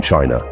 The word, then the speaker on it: qi: In the heart of ancient China, a different approach to longevity emerged.